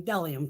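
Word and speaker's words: Bdellium: always see me using dellium tools too on camera these here the b is silent so it's called dellium but it's b d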